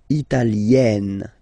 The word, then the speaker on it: Italienne: Remember, when you get this E followed by a double consonant like here, then you will have to open it. Italienne, Italienne.